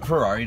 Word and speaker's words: Ferrari: name thank you sir what's the pronunciation Ferrari just like the car my mom's family is